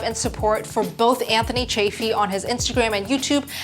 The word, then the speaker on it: Chaffee: all right is that it's pronounced chafee not Chaffee that is a big